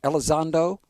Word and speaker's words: Elizondo: Now, Jan, you have spoken at great lengths to Lou, I may mispronounce this, Elizondo?